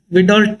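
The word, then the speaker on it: Widal: A famous test is called vidol test or vol test. The pronunciation may be differ. I love to call this a vital test and many people say vidal test no problem.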